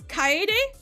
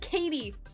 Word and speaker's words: Kaede: And so I pronounce the names like an American instead of the way they would pronounce it in Japan.